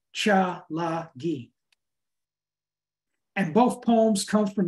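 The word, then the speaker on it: Tsalagi: ancestral tribe what the Cherokee Indians call themselves pronounce cha lagi and both poems come from the new Anthology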